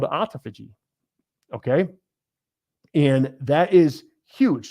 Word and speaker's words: autophagy: It looks like autophagy, but you know how these words are. It's, I think, correctly pronounced autophagy, which I used to call it autophagy because I'll read it how I read it.